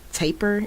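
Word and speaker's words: tapir: the main characters is and anthropomorphic it's a taper is how you pronounce those tapered who is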